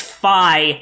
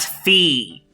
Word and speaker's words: Fi: still something which means it's fi not fee yeah i always i think i always said fee when i played skyward sword but then i apparently phi is the right way to say it because yeah because she's named after a greek numeral which is phi okay although it's spelled